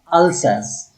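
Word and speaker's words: Alsace: एक है लोरेन, दूसरा है अल्सैस। एक्चुअली अल्जस इसको प्रोनाउंस करते हैं, अल्जस फ्रेंच में।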